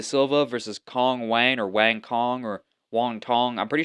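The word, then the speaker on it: Wang Cong: Ariana Lipski da Silva versus Kong Wang or Wang Kong or Wong Tong. I'm pretty sure. Apparently, her name's supposed to be pronounced Wong Tong, but I don't know if that's just racism bait.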